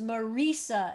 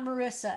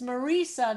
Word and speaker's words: Marisa: first name is marisa like take the name risa and it's marisa it's not marissa and she i'm gonna go back to rabbi james okay but if you were to say marisa it's marisa not marissa okay everybody